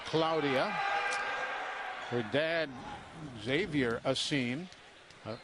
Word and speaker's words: Claudia: It's pronounced Claudia, but it is spelled Claudia. But she being a young lady from Spain, it is pronounced Claudia.